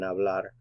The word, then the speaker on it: hablar: ingles yo hablo ingles the h is silent in hablar by the way yo hablo ingles i